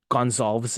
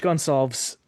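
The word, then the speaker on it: Goncalves: Well, it's the very subtle difference between like the the Portuguese pronunciation and the Spanish pronunciation. Um, it's Gonzalez in Spanish. It's Gonzalz in Portuguese. So, Gage Gonzalves of Tampa, first playoff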